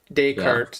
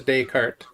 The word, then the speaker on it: Descartes: it correctly uh Renee discards or the story day like the day and night day Kurt like a horse cart Descartes instead of a night trolley it's a Descartes the Renee Descartes um